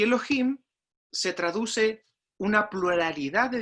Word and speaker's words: Elohim: cielos y la tierra la palabra que se pronuncia en el hebreo para describir dios se dice elogio y elohim se traduce una pluralidad de dioses y como